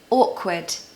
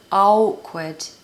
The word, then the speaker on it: awkward: they can say outward awkward but no the hack is that you say the word or and then could or could awkward British people hate